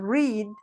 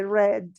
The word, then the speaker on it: read: this one for example read you say that in present and in past you're going to say red the pronunciation is different okay hi diana what's up